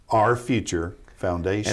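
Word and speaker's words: AR Future Foundation: little play on words capital a capital r for arkansas but it's pronounced our our future foundation and the key to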